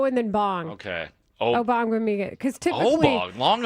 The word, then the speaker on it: Ogbongbemiga: I think it's Obong. OGB typically is the G is silent in the first part. Okay. I got to look that. Okay. Yeah, typically. it's Ogbongbemiga. Amen. Obong. Ogbongbemiga? No, take the G out. Yeah, the first Obong.